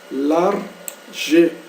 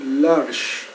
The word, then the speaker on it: large: nós líamos ela como Lar G né duas sílabas né mas como a gente sabe que o o e não é pronunciado no no no no